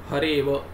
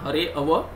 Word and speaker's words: हरेव: The pronunciation is only hareva, it is not hareava.